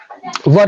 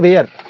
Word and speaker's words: were: Not where. You need to take care of all this thing. Not where, it is were. Were. Pronunciation has to be very clear. Were.